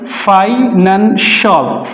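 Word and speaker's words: financial: রং প্রনান্সিয়েশন আফিশল আফিশল আর্টিফিশিয়াল ফিনানশিয়াল না ফাইনান ফাইনানশল ফাইনানশল তাহলে কোন ওয়ার্ডের শেষে সি আই এল থাকলে তার উচ্চারণ আমরা সল করব।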